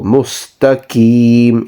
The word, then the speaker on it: مستقيم: The next word is mustaqim. So qaf, if you can pronounce from your throat, that is better, that is the way it should be. But if you struggle to pronounce the qaf from your throat, then